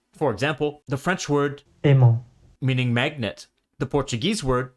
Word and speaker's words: aimant: And because in French the final T is silent, it's not written in the loanword in Portuguese.